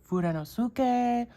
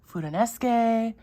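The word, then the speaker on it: Fudenosuke: I hear people pronounce it differently. Furanosuke, Furanesuke. What I have learned so far about Japanese, I would lean towards Furanosuke, but that's what that is.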